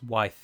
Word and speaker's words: waith: say Enid Waith, but it's not Waith, it's Wythe. And it's the same reason here, because they're both Sindarin words and they both have the diphthong I, which is pronounced, as I've already said, as Cair and not Cair. So it's like I, as in the thing in your head.